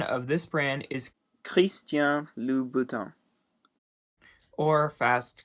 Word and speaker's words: Christian Louboutin: of this brand is Christian Louboutin or fast Christian Louboutin and it is a French designer and so it has a French pronunciation if you don't know